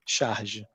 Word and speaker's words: Charge: we pronounce it is Shah which makes it sound kind of French but it's not and it's basically a